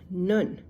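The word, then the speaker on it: נ: an an M sound nun n an n Sound nuni goes at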